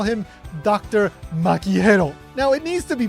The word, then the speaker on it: Gero: gente, which means people, you pronounce that as he rather than with a hard G like ge as in Gero.